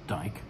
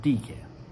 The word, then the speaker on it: Diké: order peace and which means justice is not pronounced dyke coincidentally but d care and hesiod's first mention of dk of the